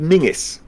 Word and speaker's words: Menzies: usage which is why they end up spelling menzies but pronouncing it mingus hmm yeah so in